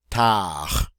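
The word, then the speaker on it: tard: two more to go tah-tah the D is silent and what is tower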